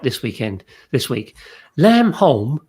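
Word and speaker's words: Lamb Holm: this weekend this week lam holm pronounced home lamb home the flying is on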